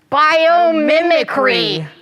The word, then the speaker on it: biomimicry: How many was that? 5? Biomimicry. 5 syllables. 1, 2, 3, 4, 5.